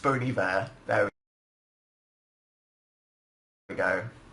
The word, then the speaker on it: Bon Iver: It's pronounced Bon Iver.